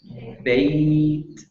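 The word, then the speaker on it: بيت: Bait, bait. So you get the ta sound at the end because that's sukoon, and the bayya becomes a lean.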